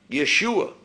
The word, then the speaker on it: Yeshua: Yeshua is how they would have pronounced it, or a form of that.